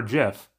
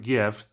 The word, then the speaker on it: GIF: But as we all know, it's actually pronounced GIF. JIF is a brand of peanut butter and it's spelled with a J.